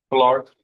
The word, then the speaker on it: Pollard: Pollard? Yes, sir. The accent is on the first syllable.